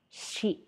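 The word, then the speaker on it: シ: It consists of three stroke orders, katakana shi, pronounced as shi, shi, shi.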